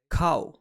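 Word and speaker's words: 買う: three boxes of apples to buy is pronounced as cow and a good way to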